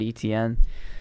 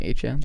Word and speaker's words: Etienne: Oh, I guess they signed ETN. Tight end. It's actually HN.